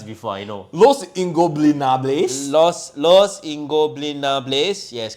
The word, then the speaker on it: Los Ingobernables: I can't pronounce it, bro. We have done this dance before. I know. Los Ingobernables. Los Ingobernables.